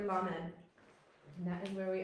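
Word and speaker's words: לָמֶד: All right, we were at the letter lamed.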